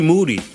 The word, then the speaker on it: Moody: AKA Moody last name rhymes with Duty yes and Miles hit